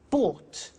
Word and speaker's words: bought: Buy, bought. You notice that O-U-G-H-T is pronounced ought. Buy, bought.